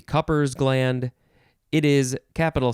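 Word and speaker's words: Cowper's gland: know ah next is calpers gland two words you could also say cooper cooper's gland or maybe copper's gland it is capital c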